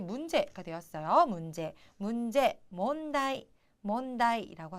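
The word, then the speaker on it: 問題: 되었어요 문제 문제 뭔데 몬다이라고 하죠 그런데 자 일단 제 자는 문자는 뭐 뭐 약간 바른 비슷하지만 제 자가 좀 특이해요 발음이 나이 나이거든요 그렇기 때문에 약간 헷갈리시는 분들도 계십니다 하지만 셋째는 무조건 나이라고 읽는다라는 거 기억을 해 두시고 꼭 외워 두세요 왜냐하면이 제자는 정말 많이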